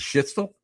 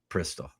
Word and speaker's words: Prystal: just go and say the way I pronounce it is Schitzel. The way they pronounce it is Prystal.